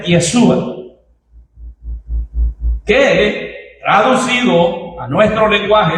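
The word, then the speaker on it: ישוע: Jesús es un nombre propio, que como dije, él hace esas eh diferencias y en hebreo este nombre se pronuncia Yesua, que traducido a nuestro lenguaje el español es Jesús.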